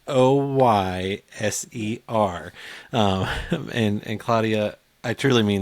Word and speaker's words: Hoyser: You might misspell it or you might mispronounce it, but Yes. it's Hoyser.